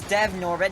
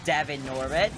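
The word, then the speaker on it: Devon Norbit: though also swept it is dev norbit not devin norbit i said it wrong my first few times but you know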